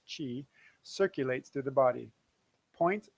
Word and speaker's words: chi: points a life force called key sorry Chi pronounced Chi circulates through the body